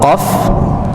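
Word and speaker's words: قاف: Ya, kaf itu tipis bacanya, qaf itu tebal.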